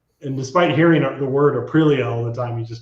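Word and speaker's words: Aprilia: It's like it's like when he saw Arilia, he the first time he saw it, he goes, "Oh, it's a prill." And despite hearing the word arilia all the time, he just stuck with no.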